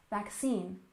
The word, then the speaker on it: vaccine: off we have vaccine with a stress on the second syllable vaccine vaccine and of course you